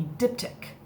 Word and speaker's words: diptych: It was originally a diptych. Don't laugh. Get your mind out of the gutter. That's how you say it.